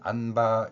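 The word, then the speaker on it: 鞍馬: 물론 일본인들은 안바 이렇게 발음합니다.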